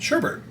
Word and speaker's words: sherbet: ahead and do this Sherbert next is it sherbet or sherbet like how do you say it sherbet there's no R though it'd be survey I